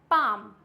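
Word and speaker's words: palm: बाद में आता है पाम पाम मींस हथेली पाल्म नहीं होता है इट्स पाम नेक्स्ट आता है आमंड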